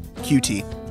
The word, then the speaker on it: Qt: right in C++ and qt or cute depending on how you want to pronounce it and uh there's just